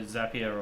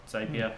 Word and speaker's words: Zapier: I think another great sort of tool to start with is like your Zapier or Zapier, however you want to pronounce it, depending where you are.